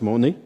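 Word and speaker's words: μονή: une définition bien sommaire c'est en grec le mot monnaie Moon en prononce monnaie et ce mot est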